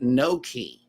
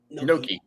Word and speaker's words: gnocchi: It says that word that I pronounced a while ago is pronounced Noki. Noki. Without the G. Noki.